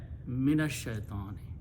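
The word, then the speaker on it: min ash-shaitani: Try to say min al shaitani, okay? Instead of that, minash shaitani, okay? So it speeds up, brings the smoothness, and that's the quality of the language.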